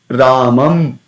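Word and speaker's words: रामं: So how do we pronounce this? Ramam, Ramam, Ramam, Ramam, Ramam. So there definitely lips. There will be a connection of the lips, but there is not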